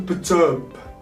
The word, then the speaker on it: perturb: So we sort of like ignore the R here. Okay, so the R here is quite silent. Okay, we don't have much music to it.